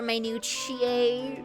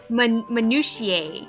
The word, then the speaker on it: minutia: I don't Are we supposed to be impressed by this nitpicking over minutuch? It says may but like minutia.